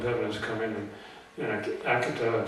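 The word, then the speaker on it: Akita: is coming in and Akata Japan that's the way they pronounce it Akata Japan said the same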